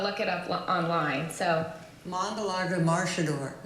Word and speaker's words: Mangalarga Marchador: it up online so mongala maridor it's almost like uh in Brazil they sort of roll it okay and it's mang